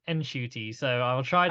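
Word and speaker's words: Ncuti: trend and hope like Shooty or and I've heard that it is actually pronounced Enshooty, so I will try I to did pronounce.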